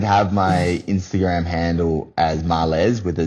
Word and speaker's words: Marles: How do you pronounce your last name for the people at home? Now, look, it is Marles, and people have been calling me Marles, and a little bit of that is my